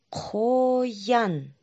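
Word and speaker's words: қоян: рыбную косточку из горлышка а теперь правильно произносим хойан еще раз хойан попробуйте сами давайте назовем ся словах которые мы сегодня изучали ношение масок а.ю.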